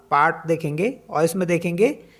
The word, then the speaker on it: Paris: जैसे एग्जाम्पल के लिए देखेंगे PARIS, तो इसमें लास्ट लेटर क्या हमारे पास एस है, तो इसको पढ़ेंगे नहीं, हम बोलेंगे नहीं, तो इसको पढ़ेंगे हम पैरी, पैरी।